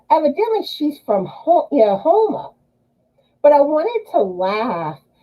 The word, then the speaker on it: Houma: she's from her yeah Houma but I wanted to laugh because they pronounced it Puma and at first I was like do they mean Houma and then later like when